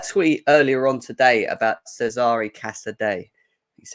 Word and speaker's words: Cesare Casadei: You brought out a tweet earlier on today about Cesare Casadei. is how you pronounce it, even though my Italian's awful.